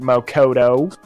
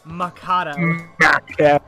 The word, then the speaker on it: Makoto: You're so smart, Mokoto. Mokoto? No, fucking say it like an American like a fucking, the most uncultured American person ever. Makoto.